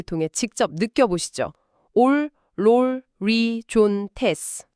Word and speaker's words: ὀλολύζοντες: 올, 롤, 리, 존, 테스. 올롤리존테스. 와, 이거는 입술이 동그랗게 모이면서 앞으로 축 튀어나오고 뭔가 안으로 쪼그라드는 느낌이에요. 정확합니다. 아까 그 아 발음과는 다르게 오 발음은 입을 둥글게 모으고 좁게 수축시켜야만 낼 수 있는 소리거든요.